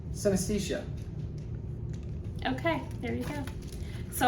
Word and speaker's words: synesthesia: I don't know how to pronounce that. Each scent correlating to a different color, mood, memory, or sound. Synesthesia.